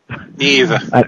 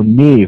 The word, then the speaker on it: Niamh: I'm afraid I can't pronounce her name yet. I've never seen it before. Niamh. And I don't... Oh, Niamh.